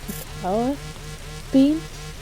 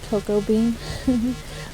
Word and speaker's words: cacao: No, I think it's pronounced cacao bean. I like to say cocoa bean, but it's cacao bean plant itself.